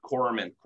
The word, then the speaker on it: corpsman: Or, I mean, the FMF guy, you know, your medic or whatever you guys call corpsman. the S is silent.